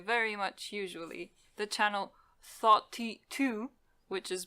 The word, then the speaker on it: Thoughty2: that I enjoy very much usually the channel thought t2 which is pronounced like 42 senator 420 yeah but the guy seems really